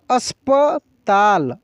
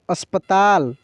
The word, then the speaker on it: अस्पताल: वैसे ही यहाँ पे लिखा है अस्पताल, देखिए अस्पताल, तो अस, देखिए अस्प, स के तुरंत बाद प का उच्चारण पूर्ण रूप से हो रहा है, लेकिन स का उच्चारण तेज़ी से हो रहा है, तो इसको क्या पढ़ेंगे, अस्पताल, अस्पताल।